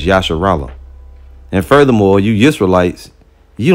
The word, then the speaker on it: Israel: If you think that Yisrael is how you say, you know, Israel is not how you say it. It's Yasharallah.